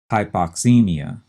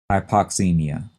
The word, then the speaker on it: hypoxemia: oxygen in the blood and that is hypoxemia h-y-p-o-x-e-m-i-a if you remember from previous chapters that